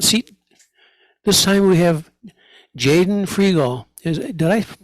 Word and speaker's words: Jaden Frigo: in the hot seat this time we have Jaden frial is did I pronounce that right correct yes okay uh I've